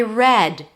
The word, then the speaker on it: read: Read, or I read this book, the past form.